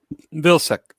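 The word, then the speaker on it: Vilseck: who was stationed chris was stationed what villa villasec how do you pronounce that vilsack vilsack wilson wilson i was in k-town kaiser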